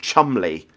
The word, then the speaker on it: Cholmondeley: would have called him Chumley. And Chumley's spelled a weird name. Cholmondeley. I think that's how you spell it.